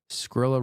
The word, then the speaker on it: Skrilla: Skrilla rhymes with gorilla.